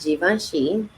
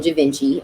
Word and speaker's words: Givenchy: my first job was givenchy at the time i was saying javinci i did not know how to say it i remember seeing it